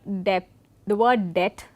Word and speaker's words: debt: Certain common English words such as debt and doubt, we know that when we pronounce it, the B remains silent.